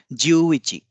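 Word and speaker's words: じゅういち: + 1 जो है ज्यू इची। ज्यू इची, इसका उच्चारण ऐसे होगा, ज्यू पे ज्यादा जोर होगा, इची पे कम जोर होगा, क्योंकि इसमें एक अतिरिक्त उ की मात्रा है। ज्यू इची।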